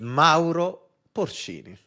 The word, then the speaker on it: Mauro Porcini: Mauro Porcini.